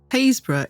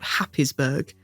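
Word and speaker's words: Happisburgh: Haysborough isn't an especially well-known coastal town, but there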